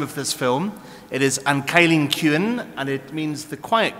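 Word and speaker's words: An Cailín Ciúin: cine philosophy Symposium you're probably wondering how to pronounce the name of this film it is an kyen kin and it means the quiet girl okay you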